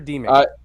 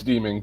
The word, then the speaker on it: Deming: that's enough of that did i pronounce your last name right deming or demon uh it's deeming but whatever it's fine